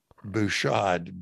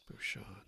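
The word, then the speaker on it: Bujold: Bouchard. B-U-J-O-L-D. Bouchard. Spell that again.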